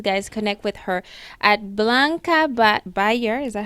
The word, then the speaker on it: Blanca Beyar: So please, guys, connect with her at Blanca Beyar.